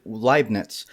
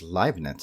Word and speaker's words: Leibniz: Isaac Newton and Gottfried Leibniz, they found calculus at about the same time.